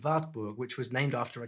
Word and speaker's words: Wartburg: So this Wartburg, I noticed Germany does not pronounce the W as W, they pronounce it as V. So if I should pronounce this stuff in English, I'll be saying Wartburg, but in German it's Wartburg.